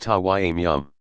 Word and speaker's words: tayammum: They usually use tap water, but under peculiar circumstances even sand or earth is acceptable, in which case it is called tayammum, pronounced tawayyum.